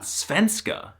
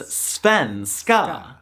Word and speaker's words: svenska: For example, the name of the Swedish language is not Svenska, it's Svenska.